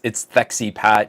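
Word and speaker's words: Wojcicki: She is a CEO, and I feel deserves the correct pronunciation of her last name. It's Thexy Pat.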